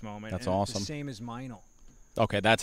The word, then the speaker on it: Meinl: since in this moment that's awesome same is meinl okay that's how you I never knew how to pronounce that yes erm I know I got